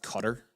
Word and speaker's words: Qatar: Did you know that uh Qatar is pronounced cutter?